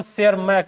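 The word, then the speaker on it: Tschermak: एक थे कॉर्न कोस जर्मनी के और एक इरिक वन शेयर मैक। इसको टी साइलेंट है।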